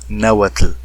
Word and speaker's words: náhuatl: tengo esa teoría de que originalmente el náhuatl anunciaba así náhuat él debe ser porque incluso bueno la estructura del idioma demuestra que en un principio debió haber sido así y no como en la actualidad que dicen náhuat no sino que realmente debió haber sido la uat y así tal como lo estoy diciendo nagua así de fuerte y así de sonoro náhuat él aunque le